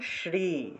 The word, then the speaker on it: শ্রী: শি শি আর র লাগান এখন র লাগান শ্রী শ্রী শ্রী শ্রী হ্যাঁ এই তো হয়েছে শ্রী